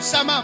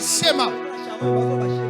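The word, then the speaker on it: שמע: Et ça s'écrit comme shama, mais on dit schéma. Shama sans H. On dit schéma Israël.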